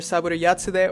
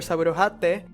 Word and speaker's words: Saburo Yatsude: The creator credit for these series was given not to Ishinomori but to this name, which can be pronounced either Saburo Yatsude or Saburo Hatte, and is not a real person but a pseudonym used by Toei staff.